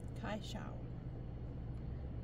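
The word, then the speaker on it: kaixo: This fabric says hello in Basque, which is pronounced Zaishao. Kaishao. It has hello.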